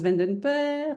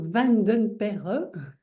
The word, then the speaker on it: Vanden Perre: Je m'appelle Vandenper, donc Vandenperre. C'est pour ça que je t'ai laissé Un nom un prononcer.